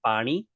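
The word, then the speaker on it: પાણી: pani The uh the n in pani is the exact same n is the n in chana. So, it's kind of a funny little nasally funny sounding n. Pani like that.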